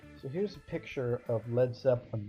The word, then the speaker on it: Led Zeppelin: formed a band named Led Zeppelin. And they spelled their name this way because they didn't want Americans to pronounce the band name Lead Zeppelin.